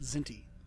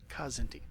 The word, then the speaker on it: Kzinti: The Kzinti hegemony, or is that pronounced Zinti? Star Trek the Animated Series pronounced it Kzinti, so that's how I'll do it.